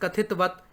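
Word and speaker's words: कथितवत्: ठीक है, अब क्या दोस्तों, वत जो है ना अंतिम त है वो आधा है। ठीक है, उसका पूरा उच्चारण नहीं होता, जैसे अब हो जाता है कभी कभी, लेकिन आधा उच्चारण करना चाहिए।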